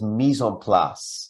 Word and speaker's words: mise en place: And since you're not far from Detroit, you need to get your French pronunciation right. It's mise en place.